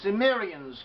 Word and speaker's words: Cimmerians: continuing a discussion concerning the chimerians or sometimes pronounced as sumerians chimerian sumerians they were